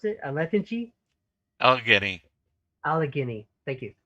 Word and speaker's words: Allegheny: its missionaries to all of how do you pronounce it a lethargy allegheny allegheny thank you allegheny at any one time there'll be teachers and